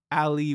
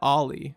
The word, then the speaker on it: Ali: i went and saw ali wong i almost said ali but it's ali obviously um because muhammad ali but it's ali it's a it's a same spelling different pronunciation gotta love english anyway